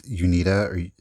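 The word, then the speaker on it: Uneeda: going to i feel like i'm going to pronounce it it's unita it's u-n-e-e-d-a these were the makers of the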